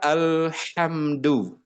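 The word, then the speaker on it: الحمد: Coba katakan al ham du al ham du insyaallah ya. Kenapa mesti pelan-pelan? Supaya tidak memantul mantul-mantul ya. Alhamdu. Nah, tidak begitu ya. Tapi alhamdu.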